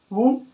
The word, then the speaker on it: womb: आ जाए, ठीक है, एम के साथ आता है तो बी का होता है साइलेंट हो जाता है। जैसे में कॉम, टूम, वूम, थम और लिम।